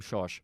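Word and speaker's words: Schorsch: he's from a lot of people call him shawsh josh instead of georg that's weird i know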